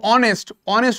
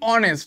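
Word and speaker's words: honest: অনেস্ট ম্যান, দেখো অনেস্ট উচ্চারণটা কি? অনেস্ট, ভালো করে বুঝবি এখানে my dear student, অনেস্ট ম্যান।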